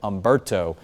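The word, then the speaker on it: Humberto: And then eventually we'll get into the second column of names, which is going to start with Umberto. The H is silent on that name.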